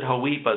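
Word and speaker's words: HOEPA: penalty if any h i pronounce it haipa so there's no um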